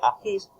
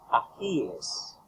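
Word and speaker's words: ajíes: No se dice agis, se dice agíes.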